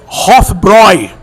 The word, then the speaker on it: Hofbräu: Pessoal fala Hofbra erroneamente porque tem um trema no A e a pronúncia é Hofbroy.